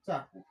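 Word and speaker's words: 着: এটা হবে, এটা হচ্ছে গ্রাফ, এটা হচ্ছে উচ্চারণ কথা হওয়া ছিল সি ইয়া কু, কিন্তু এটা ব্যতিক্রম উচ্চারণ, এটি হবে কি? চাকু।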